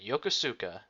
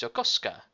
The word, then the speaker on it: Yokosuka: heroes have arrived at Yokosuka and apparently I've been saying it wrong it's Yokosuka I'm probably going to be saying it the other way they come in and